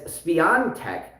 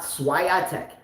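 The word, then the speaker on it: Świątek: of it uh and he says that letter a has an accent on the bottom so her name is speontech and not swayatek everyone just writes swyatek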